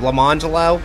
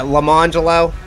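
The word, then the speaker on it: Lamonjellow: it's spelled like lemon jello but it's pronounced pronounced them lamangelo lemoncello yeah lamangelo yeah go ahead and spell it um l-a-m-o-n-j-e-l-l-o-w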